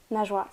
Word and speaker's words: Najwa: Est-ce que déjà je prononce bien ? Najwa, c'est exactement.